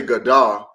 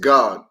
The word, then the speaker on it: Gad: You cut off the da because you don't say Gadah. It's just God.